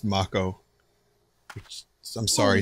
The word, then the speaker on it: mako: with mako energy soldier trademark it's canon it's pronounced mako which i'm sorry sounds a lot less cool